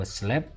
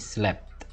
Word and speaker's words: slept: Kalau slept, tulisannya S-L-I-P-T. Pronunciation-nya juga beda, yang verb satunya sleep, yang verb duanya ini slept. Dibunyikan tehnya, slept.